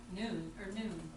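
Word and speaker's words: νοῦν: It's not a noun. It's understanding. The word is, you pronounce noun, right? Noon. It's pronounced Noon.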